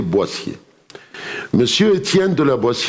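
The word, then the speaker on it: Boétie: clients français au boîtier si vous aussi vous écrivez en anglais say say droitier mais ça se prononce en français boissier monsieur tient de la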